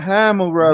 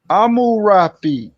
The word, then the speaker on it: Hammurabi: Right, so it's not Hammurabi, but it's Amurapi.